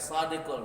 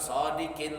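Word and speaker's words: صادقُ: Bacanya Sadiqul, bukan Sadiqil wa'dil amin, bukan Sadiqil, tapi bacanya Sadiqul wa'dil amin.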